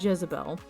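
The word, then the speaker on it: Dyesebel: this character named jezebel it's spelled d-y-e-s-e-b-e-l but from watching clips of the television series that became very popular that are based on this character i think they pronounce it jezebel uh which would make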